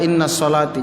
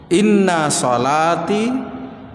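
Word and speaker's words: إن صلاتي: Kalau ada alif lamnya as-shalah maka dibaca innas sholati. Tapi ini tidak ada alif lamnya, maka dibaca inna sholati. Tidak masuk, Pak. Tidak dimasukkan, dibaca innas sholati. Maka bacanya agak keliru kalau dibaca innas sholati. Jadi bacaan yang betul, inna sholati, sesungguhnya seluruh salatku, Pak.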